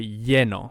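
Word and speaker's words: lleno: full you will say yeno which is double l but you could actually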